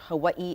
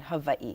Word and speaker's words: Hawaiʻi: on my mother's side, they're very prominent when using the W, the W sound. So in that sense, they're very similar, not a wrong or right, just a difference. For example, you can hear Hawaii and Hawaii. Yes. So it's not wrong either way.